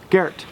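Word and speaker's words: Gerd: off for clarification this is not Garrett like you guys have seen that it's Garrett g e r d but it's German and in German the D sounds like a t and it's one syllable Garrett what is your first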